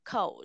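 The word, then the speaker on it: 口: là khẩu đọc là khẩu này đúng không từ Hán Việt của nó là khẩu và nó nghĩa là cái miệng đúng không hoặc là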